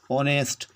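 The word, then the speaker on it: honest: क्यों लगेगा, क्योंकि हमारा पहला अक्षर तो एच है, लेकिन उच्चारण ऑनेस्ट ओ से हो रहा है, ऑनेस्ट, इसलिए हमारा सबसे पहले एन लगेगा।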